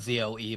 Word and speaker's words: Zoe: it's spelled Z-O-E, but it's Zoe.